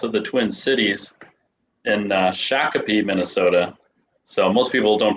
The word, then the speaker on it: Shakopee: We're just south of the Twin Cities in Shakopee, Minnesota. So most people don't pronounce that right, but we're just know that we're south of the Twin Cities in Minnesota.